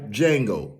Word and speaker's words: Django: I am a real life Django. The Django. Do you know how to spell that? Yeah. D-J-A-N-G-O. The D is silent.